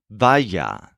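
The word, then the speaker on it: vaya: all based on the stressed syllable vaa spelled VA a y a this sounds kind of like fire so if you want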